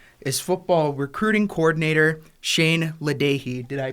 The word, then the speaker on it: LaDage: for your Beavers, is football recruiting coordinator Shane LaDage. Did I pronounce it correct? LaDage, you're close enough.